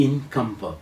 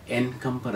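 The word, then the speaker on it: encumber: എം പി ഇ ആർ അതനുസരിച്ച് ഇൻകംപർ എൻകംപർ എന്നല്ല തടസ്സം ഉണ്ടാക്കുക ടു മേക്ക്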